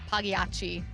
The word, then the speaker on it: Pagliacci: The G is silent. Pagliacci. Aren't you You Italian? say it a little bit. Aren't you Italian? Isn't that an Italian word? Pagliacci.